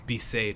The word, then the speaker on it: Besaid: Be saved, that's how you say it.